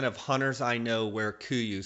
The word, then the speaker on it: KUIU: Unless you're an experienced sheep stalker, you've probably never heard of KUIU, named after an Alaskan island pronounced KUIU.